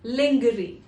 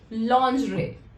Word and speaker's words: lingerie: The correct pronunciation of this word is lingerie. I've also heard people calling it lingerie. It is not lingerie, it is lingerie. The sound that comes at the end, R-I-E, is actually pronounced as re, lingerie.